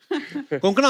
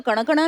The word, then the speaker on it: Konkona: लोग मिलते हैं तो आपका नाम सही से प्रोनाउंस करते हैं आई एम शोर अगर आपको कोई पंजाबी मिले वो हमेशा कंकना बोलेगा कंकना कोंकना क्यों साउथ में तो कण कणा भी बोले आई य टू हैव